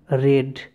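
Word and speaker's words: read: Form সেটা হয়ে গেল রেড। ঠিক আছে, মনে রাখবে রিডের কিন্তু 3টে ফর্ম কিন্তু একই, তবে যখন উচ্চারণ করবে একটু এটা হবে। দেখো এটা হচ্ছে রিড আর এটা হচ্ছে রেড। তাহলে দেখো আমার কিন্তু বাক্যটা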